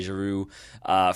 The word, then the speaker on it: Giroud: been established of Olivier Giroud. First of all, not having his D pronounced, got that one down.